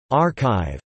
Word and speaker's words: arXiv: ArXiv, pronounced ArXiv. The X represents the Greek letter chi is a repository of electronic preprints known as e-prints approved for publication after moderation.